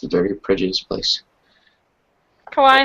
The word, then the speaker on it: Kauai: It's pronounced Kauai. Yeah, one of the two pronunciations is Kauai, but Michael's fine.